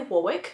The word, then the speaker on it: Warwick: mysteries, and especially Warwick, who I would pronounce Warwick because there's a place in Australia called Warwick and it's spelled that way, but it's apparently Warwick.